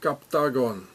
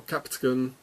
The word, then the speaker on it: Captagon: so here it says captagon it's like octogon captagon it's the same and every time so here are those captagon pills or capton if you would pronounce it in English and here it says